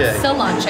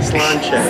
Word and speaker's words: Sláinte: No, not cilantro. It's not cilantro. Sláinte.